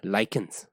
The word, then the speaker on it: lichens: the soil minerals the nutrients spelling right pronunciation can vary right otherwise it is called as likens right so likens it